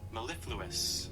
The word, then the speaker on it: mellifluous: Will you do the pronunciation of it? Mellifluous.